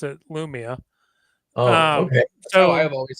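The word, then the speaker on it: Lumiya: Although if you listen to the audio books, they pronounce it Lumaya, but Oh. Oh, really? Every most people pronounce it Lumia.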